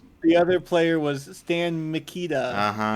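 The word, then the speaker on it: Stan Mikita: The other player was Stan Makita. Oh, I've heard. Yes. Yes. Not spelled like the tools, but spelled somewhat very closely.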